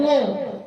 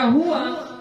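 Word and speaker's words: هو: Jadi wo. Qul huwallahu, gitu kan? Qul huwa. Jadi yang tafkhim yang mana? Hanya lamnya saja, wawnya tafkhim tidak. Jadi huwa tetap baca huwa. Jadi bacanya qul huwa.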